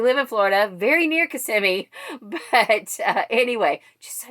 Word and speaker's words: Kissimmee: the audiobook pronounces it kissimmee it's actually not pronounced kissamy i think she probably knows that but she thought that it would just sound funnier to say kissamy as as opposed to kissimmee which is how it's actually said so i